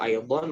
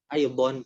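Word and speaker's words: أيضًا: Cuma untuk pelafalannya biasanya emang di orang Arab ini dibaca ya, aidon, tidak disukun. Cuma memang ada juga syekh itu orang Arab yang nyebutinnya tidak ditanwinkan, justru aido, kadang ada yang juga gitu. Ya, cuma jarang, lebih seringnya Mas Jamal dengar itu aidon.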